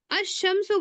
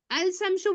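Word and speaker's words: الشمس: आप लाम को पढ़ते हैं क्या? अल शम्सु बोलते हैं? नहीं, अलिफ लाम को नहीं, साइलेंट कर। जब भी तस्दीद लगा रहेगा तो आप क्या करते हैं, लाम को नहीं पढ़ते हैं। अल में लाम को नहीं पढ़ेंगे, आप सीधा अशम्सु पढ़ते हैं।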